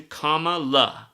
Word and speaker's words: Kamala: Harris I mean Kam cuz that's how you're supposed to say her name comma like comma punctuation Comm La that's what they've been